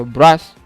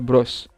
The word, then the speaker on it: brush: Nah, silakan cari di Google cara pengucapannya apakah dia bros atau bras. Ya, kalau bras itu beda lagi ya. Jadi dia bros.